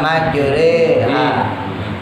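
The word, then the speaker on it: مجراها: Jadi sama kayak imalah dulu kalau kita pernah belajar, yang majroha dibaca majreha.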